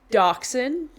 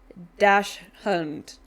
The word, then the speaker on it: dachshund: Like da dachshund, she pronounces it dash hound, like dash hound, but because it's spelled h a u n d more like German almost.